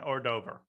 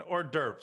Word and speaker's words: hors d'oeuvre: the entire rook but just you know an ordover and an ordover an order an hors d'oeuvre sorry i just pronounced that i'm betraying my ignorance no no